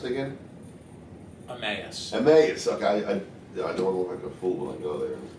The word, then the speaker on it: Emmaus: How's that town pronounced again? Emmaus.